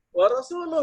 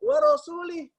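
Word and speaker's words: ورسوله: di Um Minal musyrikin Awa rasul warosuluh yang benar ya coba dibuka atau Mbak Nah ini ada orang bacaannya warosulih Wah ini kalau dibacanya warosulih ini bisa bisa gawat urusan ya karena disitu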